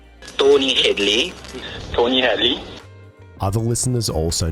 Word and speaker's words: Tony Hadley: far as I'm concerned, you pronounced my name absolutely correctly. Tony Hadley, you might have said Hadley, it's a slight accent, but as far as I'm concerned, you said my name correctly.